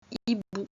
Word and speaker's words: hibou: Mais quand il n'y a ni un C ni un P, juste un H, on ne le prononce pas. Comme dans le mot repère, un hibou.